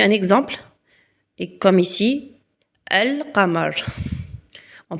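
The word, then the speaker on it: القمر: Et comme ici, al kamar, on prononce bien, regardez, vous entendez bien elle. Lamar. El kamar qui veut dire la lune.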